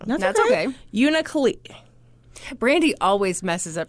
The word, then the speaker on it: Unalakleet: She's the fourth of 6 children, and she was from the small village of Unalakleet. I knew I was going to say it wrong. That's okay. Unalakleet.